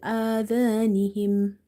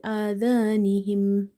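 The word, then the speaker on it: آذانهم: And in this case, the amount of stretching here for the ya will be 2.5 alif, 2.5 alif. So it will be fi adhanihim, fi adhanihim.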